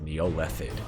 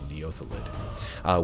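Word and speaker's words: Neothelid: I pronounced it wrong the whole time last round. I said Neolethid. It's actually Neothalid, which had been confined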